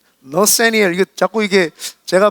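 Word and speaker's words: Nathaniel: 주홍글 씨라고 했던 그 유명한 너세이널 호손, 영어 발음이고요. 한국 발음으로는 나다니엘 호손입니다. 네. 너세니엘, 이게 자꾸 이게 제가 발음이 잘 안 좋으니까 네, 이래 이해해 주세요.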